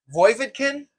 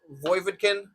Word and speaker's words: Voievodkin: Tough one to pronounce here. We got Danylo Voievodkin, I think is how you say it. Now, I listened to the commentators say it on the broadcast for the regional stuff, but it's hard because a lot of times you're not really. I mean, it's you hear different pronunciations, things like that. It's tricky, but we're gonna go with Voievodkin. That's what we're going with.